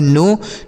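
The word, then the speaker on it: know: देखिए के और एन है तो यहां पर के जो है साइलेंट है। ठीक है? अगर कहीं भी के साथ एन होता है तो के साइलेंट हो जाता है। एन ओ डब्ल्यू इसे पढ़ेंगे नो।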